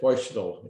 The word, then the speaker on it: Fuestel: And like she said, Foistel is the way she pronounces her name.